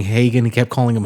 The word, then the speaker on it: Hagen: You know, he he said he kept mispronouncing Hagen. He kept calling him Hogan.